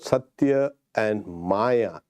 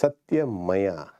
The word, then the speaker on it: Satyamaya: It is not, talking about my name, it's not Satya and Maya. It's Satyamaya.